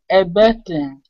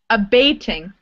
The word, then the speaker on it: abating: Abating. Abating. Abating. So it looks like abating, but it comes from the verb abate. Abate, okay. So we pronounce it with the long A, abating.